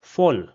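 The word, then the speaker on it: voll: for pronunciation purposes that I will replace the fau at the start with an f and this is how it will be pronounced as fall which means full fall.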